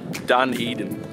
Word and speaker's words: Dunedin: I'm currently and I've been pronouncing it wrong the whole time it's called Dunedin so yeah I've just